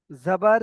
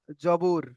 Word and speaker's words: জাবার: অনেকে বলেন জবর। জবর, জের, পেশ, অনেক জবর বলেন। তো এর সঠিক উচ্চারণ হবে জাবার। জাবার, জাবার।